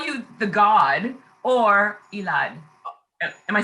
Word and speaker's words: Elad: that it is pronounced so how do we pronounce your name a lot elad is oh or you could say in a